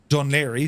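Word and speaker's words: Dún Laoghaire: neck of the woods D lir that's how that's uh pronounced and uh we're going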